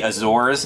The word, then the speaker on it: Azores: or it's pronounced the azores it's not hard a calm down americans you gotta say things